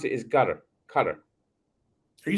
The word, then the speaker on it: Qatar: Yeah, how they pronounce it is Qatar, Are you saying gutter or cutter? Qatar. Cutter. Yeah, it sounded like you said gutter at first, but yeah, it's similar to gutter, but with a Q Yeah, or a CU, cutter.